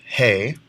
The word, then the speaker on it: ge: The letter G is pronounced He.